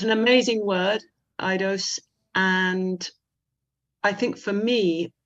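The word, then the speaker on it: aidos: It's about the ancient Greek word eidos. Is that how you pronounce it?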